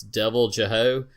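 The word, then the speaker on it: Deviljho: and they call it, I'll try to say the name and I'll spell it. It's Devil Jeho. It's Devil and then JHO.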